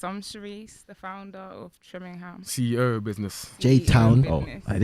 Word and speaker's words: Trimingham: Trimingham. Yeah, Trimingham. Okay, cool. How do you say? I say Trimingham, innit? But I yeah, speak but fast. some people say Trimingham.